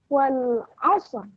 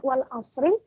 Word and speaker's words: Wal 'asr: Wal 'asr. Wal 'asr. Wal 'asr. Wal 'asr. Nah, ada kata sur di akhir ayatnya ya. Kita ulangi sekali lagi ayat satunya, cara membacanya bukan wal asri, tapi wal asr.